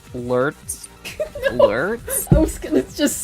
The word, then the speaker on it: Laertes: That's so surprising because, you know, someone else in my chat also said, did you know that in the original Greek, Laertes were pronounced Lurts?